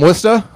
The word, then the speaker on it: Worcester: 11 Holy Cross alum all the way from Worcester I love the different pronunciations of the city of Worcester I'm from